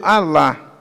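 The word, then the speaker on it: ἀλλά: Ela é pronunciada no grego alá, que significa mais pelo contrário, completamente oposto.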